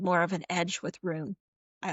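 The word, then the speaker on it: Ruhn: would bring something fun as as Rune Run Run.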